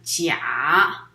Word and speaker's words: 鉀: And in Chinese it's pronounced as 甲, but I use 家, a different tone but the same pronunciation, which is home as the theme.